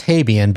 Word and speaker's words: Habjan: Now you before I get into this this uh set of questions, your last name is pronounced habian, but it's h a b j an.